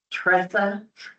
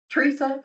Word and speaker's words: Teresa: Here's what it is, the way it is spelled, it should be Tressa. But I say Teresa, but I answer to Tressa or Teresa, because I know who you're talking about.